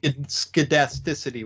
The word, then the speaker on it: scedasticity: almost skedasticity with a hard C.